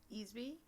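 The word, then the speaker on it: Easby: name with ezbee mm-hmm I'm assuming that's always pronounced ezbee yeah yes p1e a SBY quite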